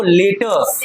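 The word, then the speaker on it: letter: पर टर नहीं करना है। क्या पढ़ते हैं उसको? लेटर।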